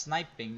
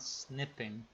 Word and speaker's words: sniping: I'm pretty sure it's pronounced sniping, not snipping.